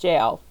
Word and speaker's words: gaol: Even though it doesn't look right, it is pronounced jail.